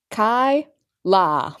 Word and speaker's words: Kyela: I can say it properly for the joke Kai La Kyla again lexic I'm sorry soed many people Mis my name is spelled a little weird because there's an e